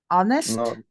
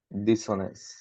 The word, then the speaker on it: honest: imperfect in with M honest with here is perfect and this this the sful dishonest Dison honest hour and honor you don't pronounce the h okay so is this